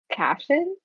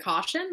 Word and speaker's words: Cashin: I think we were mispronouncing Cashin. Isn't it caution? Like Caution? Oh, caution. Yeah, so it's pronounced like caution. Yeah. Like cautious.